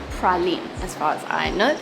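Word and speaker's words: Praslin: Island it's actually spelled like this but it's pronounced pralin as far as I know it's the second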